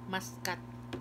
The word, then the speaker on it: Muscat: Muskat yung pronounce nila.